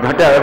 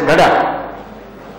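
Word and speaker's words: घट: We have the Sanskrit word Ghata, we pronounce it as Ghada. We don't pronounce it in the Sanskrit form.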